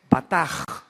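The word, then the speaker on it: בטח: La CH en hebreo se pronuncia como J, o sea es bataj.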